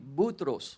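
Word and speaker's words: بطرس: And I also know how to say it in Arabic. Y también lo sé decir en arameo. Butros. Butros.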